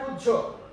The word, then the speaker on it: উজ্জ্বল: ঠিক আছে, এটার উচ্চারণ হবে উজ্জ্বল।